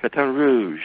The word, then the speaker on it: Baton Rouge: you are you're in B Rouge did I pronounce that right yeah Baton Rouge batan Rouge that's how they say It Baton Rouge batan Rouge I'm I'm pretty good at lingu which by